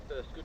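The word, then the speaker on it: Burscough: Right, 2.5 miles to Bursca, which is pronounced. The next station stop is Bursca Junction.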